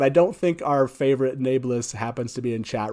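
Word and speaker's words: Nae'blis: be fun so when i say nameless i say nablus right i think that's what you're supposed to say is is nablus right and so i'm kind of curious let's see how robert jordan pronounced this word that's correct folks not nablus it's nebulous and for some reason at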